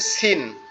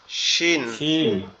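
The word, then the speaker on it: س: কিশিন ওকে এই যে এই যে সিন যেটা এটা একবারে সহজ উচ্চারণ আমরা যেখান থেকে ঝা উচ্চারণ করলাম এখান থেকে উচ্চারণ হবে সিন সিন জিহ্বার আগা নিচের দুই দাঁতের আগার সঙ্গে লাগবে লেগে উচ্চারিত হবে সিন সিন সিন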